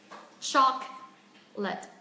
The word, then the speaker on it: chocolate: Thứ nhất, theo quan sát mình sẽ thấy từ này sẽ chỉ có hai âm tiết. Chocolate. Và trong âm rơi âm tiết thứ nhất, vậy âm tiết thứ nhất chúng ta sẽ phải phát âm cao hơn, rõ hơn, dài hơn, mạnh hơn âm tiết thứ hai, đúng không ạ?